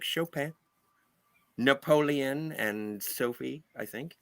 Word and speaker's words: Chopin: Yes, It's and that it's Chopin. yeah, Chopin. Chopin. I He don't know how to pronounce it.